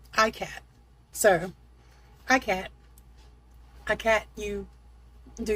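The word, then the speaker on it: ikat: I googled it. That's the way they pronounced it. ICAT.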